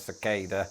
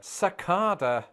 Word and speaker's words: cicada: realised that, in fact, in Britain, where this insect is in fact very rare, the word is often pronounced, and this somehow feels wrong to somebody who only learned the word when living in America, cicada. Cicada.